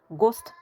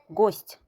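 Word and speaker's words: гость: T yumuşalır. Çünkü T'dan sonra məhki znak var. Gost demirik. Gost. T'nı yumuşaldırıq. Qonaq deməkdir.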